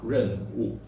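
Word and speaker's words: 壬午: In this example, we will pronounce it as Renwu .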